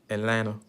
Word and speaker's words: Atlanta: I think that's how they say it. It's not Atlanta. It's Atlanta.